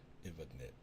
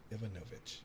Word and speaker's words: Ivanovich: Ivanovich. There we go. Ivanovich.